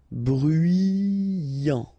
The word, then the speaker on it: bruyant: Bruyant. Final T not pronounced. So you get bruyant. Okay?